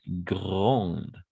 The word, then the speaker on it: grand: Ici, on va prononcer grande. D'accord? Grand. Tout simplement grand. Grand.